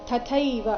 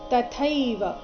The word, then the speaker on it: ತಥೈವ: ಕಾರಣ ತಥೈವಚ ಪಿತಾಮಹಾಹ ತಥೈವ ಇಲ್ಲಿ ಥೈ ಮಹಾಪ್ರಾಣ ಇದೆ ಗಡಿಬಿಡಿಯಲ್ಲಿ ತಥೈವ ಅಂತ ಬಾಯಿಂದ ಹೊರಡಬಹುದು ಆದರೆ ಅದು ತಪ್ಪಾದ ಉಚ್ಚಾರಣೆಯಾಗಿದೆ ಸರಿಯಾದದ್ದು ತಥೈವ ತಥೈವ ಇಲ್ಲಿ ಚ ಹ್ರಸ್ವ ಬರಬೇಕು